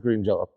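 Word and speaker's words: Green Jellö: So what my fucking moronic dictator of a satanic alien cult did, he put the Sunday goose above the Y, whatever you call him, so you would pronounce it Green Jello.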